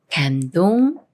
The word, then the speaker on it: 감동: 다음에 동이라는 말이 와서 감동이 되는데요 미음 받침이 디귿을 만나지만 쌍 디귿이 아닌 디귿 소리 그대로인 드로 읽어요 감동 감동 예문 읽어 볼게요 정말